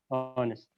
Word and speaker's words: honest: The H is silent. So that's why it's a vowel sound, because H, it's a silent letter.